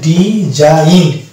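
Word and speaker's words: design: জি এর উচ্চারণ আছে এবং এটা এটার একচুয়াল উচ্চারণ হয়েছে ডি জাইন অর্থাৎ জি এখানে উজ্জ্ব হয়ে গেছে নেক্সট ওয়ার্ড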